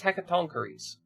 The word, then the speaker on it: Hecatoncheires: Yeah, actually pronounce it, please. This one says Hecatoncheires.